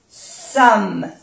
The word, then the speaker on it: sommes: Lorsque nous sommes, no se pronuncia la E ni la S, sommes plus de deux personnes, tampoco se pronuncia la E y la S, deux personnes, nous allons,